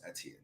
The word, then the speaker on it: Etienne: No, it's Etienne.